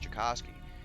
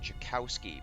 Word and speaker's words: Djokovsky: last name is pronounced djokovsky but for some reason people pronounce my last name jakowski but there's no w